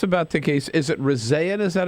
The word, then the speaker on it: Rezaian: Is it Rezaian? Is that how I pronounce Jason's last name?